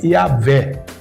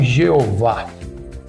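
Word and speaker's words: Yahweh: e inseridas assim que a melhor pronúncia seria Yahé e não Jeová. Até porque não tem esse correspondente de G nos idiomas bíblicos.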